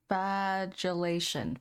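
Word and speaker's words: flagellation: hold on all right the word is actually pronounced filation filation scars filation scars and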